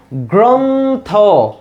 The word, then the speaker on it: গ্রন্থ: দেখো গ্রন্থটাকে তুমি উচ্চারণ করো তো, গ্রন্থ। তাহলে উচ্চারণে আমাদের অক্ষর পাইছি কয়টা? 2টা। গ্রন্থ 2 ভাগে উচ্চারণ করতে হয়েছে, 2 নিঃশ্বাসে উচ্চারণ করতে হয়েছে। দেখো তাহলে গ্রন্থ, তাহলে এই যে গ্রন্থে থামতেছে, এখন দেখো শেষে কি একটা অ আছে না? গ্রন্থ, শেষে অ আছে, অ থাকলে শেষে আমাদের ওকার হবে।